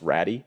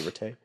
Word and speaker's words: Ratey: I don't think he would like it pronounced Ratty, so I say Ratey.